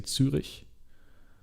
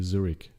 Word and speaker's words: Zürich: If I was to pronounce this in German, I would say Zürich. Or in English, it would be Zurich.